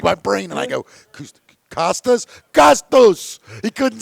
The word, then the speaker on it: Costas: And I'm like, my brain, and I go, Costas?